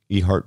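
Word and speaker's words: Ehert: this uh land in e heart virginia e-h-e-r-t so the letter e followed by heart i'm going with my gut on the yeah pronunciation that's right i've honestly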